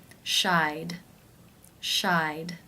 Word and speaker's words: shied: The final sound in the infinitive is the I as in by diphthong. Therefore, it is case 2, and the ED is pronounced as the D sound. Shied, shied.